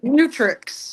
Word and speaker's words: Mutrux: Do you go by Mutrix.